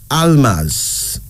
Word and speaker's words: Almaz: one our third female name is Almaz a-l-m-a-z Almas now Almas is an Ethiopian and Eritrean name meaning Diamond